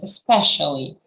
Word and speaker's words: especially: I think um yes the word stress was a little bit awkward especially that's how we we say it uh so there are